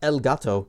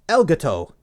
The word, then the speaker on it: Elgato: It's not Elgato, it's Elgato. See, there's no space there.